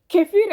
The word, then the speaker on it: kefir: கெபீர் அல்லது கிபிர் என்று உச்சரிக்கப்படுகிற இது பசு ஆடு அல்லது செம்மறி ஆட்டின் புளித்த பாலில இருந்து தயாரிக்கப்படுகிற ஒரு பானம்.